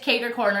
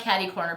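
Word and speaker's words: cater-corner: Yes, it's cater corner. It's not caddy corner.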